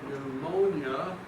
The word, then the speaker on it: pneumonia: One of the meanings is wind, and we incorporate it into our word pneumonia, which is with a silent P.